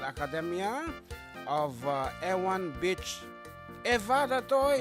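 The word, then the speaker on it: Ewa Beach: Eva Beach, Hawaii. Tomorrow is her special day. Okay, good. Nakangapit sa Zikarili, Ewan Beach. Eva Ditoy, iti pa nang i-pronounce na kano according to some individuals from Hawaii.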